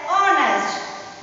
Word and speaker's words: honest: Here the word is honest, but H is silent. So we pronounce it as honest.